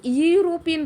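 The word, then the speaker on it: European: इसको यूरोपियन बोलते हैं। अब बहुत से लोग इसको यूरोपियन बोल देते हैं। ये गलत है। इसको बोलते हैं यूरोपियन। यूरोपियन है। यू साउंड आ रहा है। यू साउंड मतलब यहां पे क्या हो जाएगा? कंसोनेंट। कोंसोनेंट के लिए ए आएगा।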